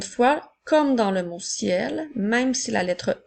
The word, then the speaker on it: ciel: nous avons le mot ciel si l a la lettre E on doit faire attention même s'il n'y a pas d'accent et elle se prononce comme un et pour faire ciel le ciel comme dans